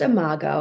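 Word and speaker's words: imago: is that you also specialize in is it Omega therapy yeah it's pronounced a Margo it's spelled i-m-a-g-o or for anyone who wants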